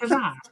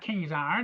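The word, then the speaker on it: Ka-Zar: Kazar, see, yeah, see, it's Kazar. Kazar, see, you don't know how to pronounce it, see, it's not Kingzar, it's Kazar, see.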